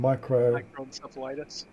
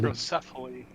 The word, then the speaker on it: microcephaly: Microencephalitis. That's not encephalitis, but yeah, I get Oh, encephaly. microcephaly, Micros- congenital Malformations, malformations, yeah, premature premature birth, death, yeah, and miscarriage.